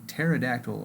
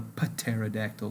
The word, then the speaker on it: pterodactyl: the next one is the pterodactyl or as i like to call it the pateradactyl because of that silent p not too bad as